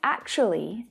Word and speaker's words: actually: But when spoken by a native English speaker, when they say it naturally, the word reduces down to 3 syllables.